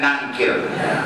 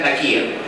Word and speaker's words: Nakir: Jangan dibaca Munkar dan Nakir. Jangan begitu. Itu bacanya tidak benar. Munkar dan Nakir.